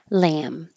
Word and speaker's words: lamb: like that lamp so either way you close your lips for the M you don't release a b or a p lamb lamp Granite Granite New